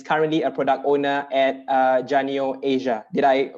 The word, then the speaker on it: Janio Asia: He lives in the intersection between tech, UX, business, and is currently a product owner at Janio Asia. Did I pronounce that correctly, Hazrul?